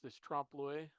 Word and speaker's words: trompe l'oeil: If you haven't heard this trompe l'oeil, that's how to pronounce that.